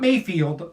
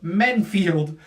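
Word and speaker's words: Menifield: Vinicius Alva's yeah first Alonso men field not Mayfield men field names are really getting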